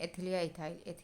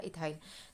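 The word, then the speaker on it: ethyl: एंड अगर कहीं पे C2H5 छूट रहा है तो इसको बोलते हैं एथिल या इथाइल।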